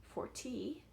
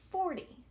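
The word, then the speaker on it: forty: Whereas here, the stress is on the first syllable, that tick mark there. First syllable. 40. So again, sound and stress. 40. We don't say 40, we say 40. So the stress or the push in my voice is on that first syllable.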